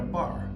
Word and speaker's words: barre: across all these strings that's literally like a bar that goes across the cace okay except it's spelled b a r r e e okay so let's